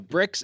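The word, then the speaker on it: Brix: They also have a commercial on here that maybe we can play a little bit of, but the BRICS is spelled B R I X and it measures the average sugar level in the grapes, must and wine.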